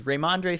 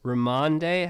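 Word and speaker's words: Rhamondre: one sneaky waiver wire pickup to me is raymandre stevenson how do you stevenson he's the running back in new england ramonde how do you spell that man r-h-a-m-o-n-d-r-e raimonde here he is here he is he plays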